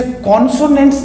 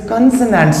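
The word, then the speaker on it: consonants: इसे कॉन्सोनेंट्स नहीं, इसे कंसोनेंट्स बोलते हैं।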